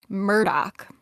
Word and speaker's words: Murdaugh: But apparently, Alex Murdaugh says his name as Alex Murdaugh. So we're going to run with that from now on.